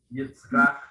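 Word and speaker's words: יצחק: Yitzchak.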